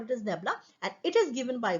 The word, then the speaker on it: nabla: so delta f so but this this is pronounced as what nabla we can also call it as nabla and it is given by what this nabla